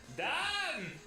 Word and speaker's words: Dan: so now he's like done i'm so excited the best is when like because don is the israeli pronunciation of dan um that's just how